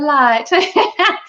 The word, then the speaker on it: LYHT: So the company is pronounced LYHT, LYHT. LYHT. The light.